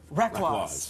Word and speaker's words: Reklaws: inspired us we're gonna play a little game rhymes with wreck loss ready so we're gonna lead up a sentence